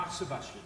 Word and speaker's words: moxibustion: Because I'm not going to pronounce it correctly. Moxibustion. Yeah. Moxibustion.